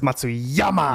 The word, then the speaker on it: Matsuyama: You didn't say it right. It's Matsuyama.